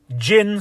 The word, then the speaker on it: djinn: n i e but actually the correct spelling the correct translation from Arabic to English is d g i NN Jin spelled with a d g i yeah